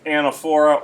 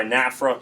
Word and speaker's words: anaphora: reform taking place so anaphora or anfra you'll hear pronunciation of both types repetition word or phrase